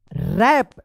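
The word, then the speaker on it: wrap: बताइए इसको क्या पढ़ेंगे रैप डब्ल्यू आर ए पी रैप व रैप मत पढ़िएगा क्योंकि आर से पहले डब्ल्यू है तो डब्ल्यू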